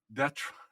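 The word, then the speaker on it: d'être: d'etre.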